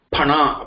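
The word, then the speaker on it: फणः: It is not phana. Okay, not F. F pronunciation is not there in Sanskrit. Okay, P. Only P pronunciation.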